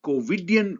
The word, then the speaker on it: COVIDian: The warp speed of COVIDian response has ushered in unprecedented challenges, and the unknown unknowns are sure to occur in pharmaceutical practices. I know COVIDian, the word rhymes with comedian, but no pun is intended.